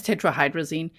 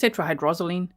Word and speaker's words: tetrahydrozoline: He says tetrahydrazine, but it's tetrahydrozoline.